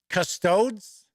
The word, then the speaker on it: custodes: I don't know so MC says proper pronunciation is custodes I think that's uh